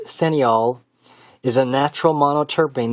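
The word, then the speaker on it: cineole: Pub Med the 18 senol that's c i n e o l e it's pronounced senol is a natural monot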